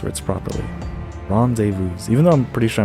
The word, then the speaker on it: rendezvous: I learn how to pronounce words properly. Rendezvous.